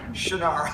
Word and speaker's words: Shannara: But I can tell you that time has caught up with you and your name indeed is now Shinara, you know, for years and years.